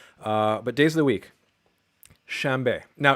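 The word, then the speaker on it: شنبه: And what happens is you get a nasal voiced labial. So you get shambe.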